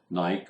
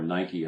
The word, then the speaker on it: Nike: learn how companies like Nike or Nike as it's pronounced in the United States Adidas Nestle Hershey's and